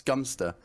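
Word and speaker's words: Godmanchester: It's Gumster is how it's pronounced.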